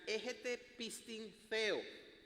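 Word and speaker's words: ἔχετε πίστιν θεοῦ: Pero cuando uno va al original griego, y esto lo descubrí estudiando, preparando para este tema, en griego dice, se pronuncia egete pistin theo, ¿ok?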